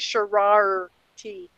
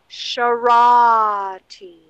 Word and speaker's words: Sharati: And he can never pronounce my name right. It's always Shararty. Who the fuck is Shararty? yeah, pronounce it correctly, MC. It's Charity. Oh my God. Ah, you're all terrible. Yes, I know. My name is Sharati.